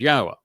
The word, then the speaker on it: Yahowah: I go through this with you and use these 4 words because they prove emphatically that the proper pronunciation of Yahweh's name is as I have pronounced it, Yahowah.